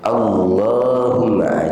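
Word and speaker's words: اللّهمّ: Lamnya dipanjangkan walaupun tidak ada tanda panjangnya. Ya. Allahumma malikal mulk. Allahumma itu kita panjangkan tuh.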